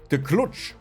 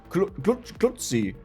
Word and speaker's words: klucz: We have the klucz. Klutzi. How do you pronounce Polish, actually?